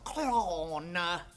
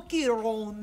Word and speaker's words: Cuarón: This movie was directed by Alfonso Cuarón. That is the only way to pronounce it. Alfonso Cuarón.